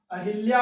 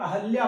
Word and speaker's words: अहल्या: इसी तरह से आगे आते हैं, यहाँ पर अहल्या, अहिल्या और अहल्या बहुत पूछा जाता है। अहिल्या जिसे अशुद्ध कहते हैं, अहल्या शुद्ध है, इसको बहुत पूछते हैं।